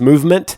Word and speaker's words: MVMT: and clean original designs movement which is spelled mvmt grew into one of